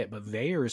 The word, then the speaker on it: Vaer: Well, I didn't say it, but Veyer is spelled VAER.